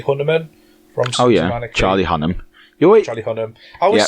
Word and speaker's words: Hunnam: Charlie Hunnam. I always say Hunnaman. Yeah, you do. Hunnam, Charlie Hunnam.